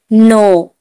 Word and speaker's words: know: जब भी एन से पहले के आए तो के उच्चारण नहीं करेंगे। जैसे नो, KNOW, नो, नो में